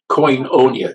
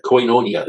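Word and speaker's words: κοινωνία: coia coia yeah it comes from Coos though coinonia coinonia is the word coinonia coinonia is up here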